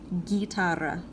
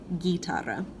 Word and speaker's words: guitarra: the letter H would so these words are pronounced - got though Gore though guitarra you kind of ignore that you there it's a placeholder guitarra whereas these are hey Mela Henry ow apparently